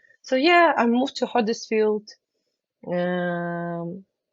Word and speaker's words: Huddersfield: yeah I moved to Huddersfield um I love the way you pronounce Huddersfield it's a you not an O I heard so many